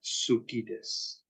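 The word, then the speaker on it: suki desu: Des desu Iya nah kebiasaan orang Jepang u tu tidak dibaca jadi bacanya watashiwa ramenga sukides artinya apa aliasan saya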